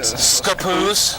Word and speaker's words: Scappoose: rain rain here it's like like Scappoose yeah it's scapoos yeah it's like they shorten the first syllable of the word okay that'll have to